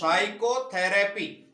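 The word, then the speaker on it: psychotherapy: ऐसे PSYCHO इसी में TRAPY इसको क्या कहेंगे, साइकोथेरेपी। क्या कहेंगे, साइकोथेरेपी। इसमें पी से कुछ बोल रहा है क्या, नहीं। अर्थात इस वर्ड में पी क्या है, साइलेंट। साइलेंट।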